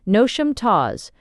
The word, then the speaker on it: Knotacentinum Towers: and around Noticentinum Towers, pronounced as if written, Nosham Taws, the seat of Lord Notissant, pronounced as if written, Nosh.